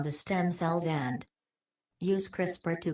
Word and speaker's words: CRISPR: interspaced short palindromic repeats crisper pronounced crisper brok orotic DNA containing